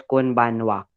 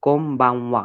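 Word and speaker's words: こんばんは: It would we will not pronounce as कोन बानवा, it would be कोम्बावा।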